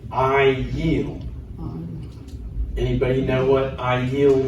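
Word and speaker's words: אַיִל: So we're going to pronounce the yud cuz there's a vowel under it. I yeel.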